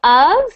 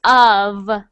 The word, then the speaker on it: of: supposed to be separated so of is pronounced like a V so of not of okay of of ubiquit